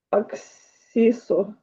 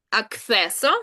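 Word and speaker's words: acceso: Аксісо. Аксесо. Угу. Е. Завжди е. І на і не перетворюється.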